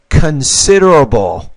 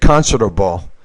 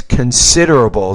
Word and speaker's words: considerable: You want to say it's considerable time. You said considerable, but it's considerable. So the stress here is on the second syllable, not the first.